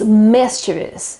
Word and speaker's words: mischievous: this mistake quite often so it's mischievous and the accent is on the first I sound so let me know